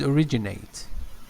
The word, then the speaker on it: originated: art originated yeah yeah the verb is originated originally you know this traces are originated there's the second syllable but the noun is